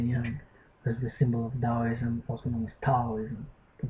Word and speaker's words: Taoism: So Tao Te Ching, what I've just read, is associated with Taoism, also some pronounces as Taoism, the Tao that has